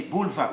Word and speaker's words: boulevard: Letter D, at the end of a word, is normally silent, always. So here we should say boulevard. We read up to the letter before that D.